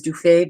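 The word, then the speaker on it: Du Fay: Well, you all might pronounce it as Dufet, but was actually apparently pronounced Dufo in the 15th century.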